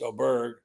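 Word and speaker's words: Åberg: And the guy, one of the guys I picked, Oberg, pronounced Oberg, uh, the kid from Texas Tech and was such a young player.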